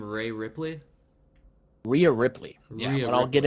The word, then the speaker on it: Rhea Ripley: Yeah, so right here we have, it was Chelsea Green getting eliminated by, how do you pronounce her name? Rhea Ripley? Rhea Ripley.